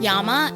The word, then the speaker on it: llama: Christine rosam as Fel llamas are petrifying Parker Daniels as Bridget so if we were in South America it would be pronounced Yama and not llama Bella that is not